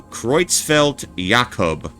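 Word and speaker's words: Creutzfeldt-Jakob: Okay, so Croitzfeld Yakub. Okay, Croitzfeld Yakub. Thank you for the uh the pronunciation I just noticed.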